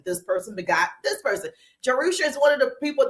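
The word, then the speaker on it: Jerusha: so important so I'm juser that's how you pronounce my name jerusa it's Hebrew it's in the Bible it's actually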